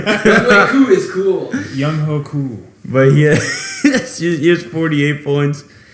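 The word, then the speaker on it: Younghoe Koo: I'm looking at Young Ho Koo. Young Ho. Yeah, no, you said it right. Young Ho.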